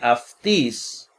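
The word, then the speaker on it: αὐτῆς: Algunos me preguntan por qué se pronuncia como F, la Y.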